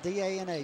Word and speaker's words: Dana: How do you pronounce it? Day? No, that was D-A-N-A. Dana.